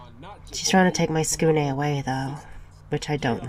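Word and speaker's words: Tsukune: Su-kun. Really? That mispronunciation, though. How dare you diss my skune?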